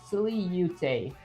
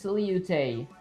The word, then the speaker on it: silhouette: Okay, start with silly, so silly-ute. Oh, so it's silly-ute.